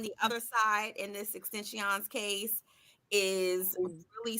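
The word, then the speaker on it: XXXTentacion: To do with have something to do with the overall murder of Extension.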